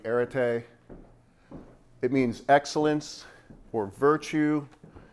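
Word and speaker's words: ἀρετή: There's a Greek word here, pronounced roughly arete.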